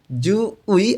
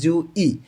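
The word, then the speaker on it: 주의: যেমন জু উই অনেকেই পড়েন, এইটার মূল উচ্চারণটা হবে জু ই, কারণ এই উইটা পার্টিকেল হিসেবে নাই এখানে, উইটা এখানে মূল শব্দের সঙ্গে আছে, এই কারণে এটার উচ্চারণ হবে ই।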